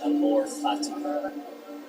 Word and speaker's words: amor fati: There's a Latin phrase pronounced amor fati.